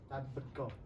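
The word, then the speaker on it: tadbirkor: It sounds like Tadberko.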